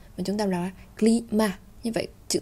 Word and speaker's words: climat: Chúng ta không đọc là climat, mà chúng ta đọc là climat.